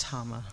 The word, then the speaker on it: Tama: And it's pronounced Tama.